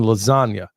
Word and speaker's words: lasagna: Well, it ain't like pronouncing the only useless G out there is the one in lasagna. It ain't supposed to be there, man. I don't care what anybody says. That is a worthless G right there, but not the one in sergeant.